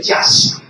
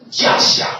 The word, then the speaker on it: Yasha: del término hebreo de Yasha. Yasha, con Y de yuca. Sí, la verdad, esa es la forma más idónea de poderlo pronunciar. Yasha, en el hebreo, insisto.